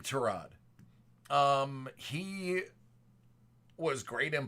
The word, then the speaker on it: Tyrod: is an absolute Injustice his name is not Tyrod it's trod it's trod Taylor but one of his coaches pronounced it Tyrod and it stuck and nobody